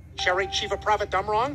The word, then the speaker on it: Cherry Chevapravatdumrong: star wars characters everybody from the cleveland show sharing chief of prophet dumb wrong that's how that name is pronounced the orville the ship not the cast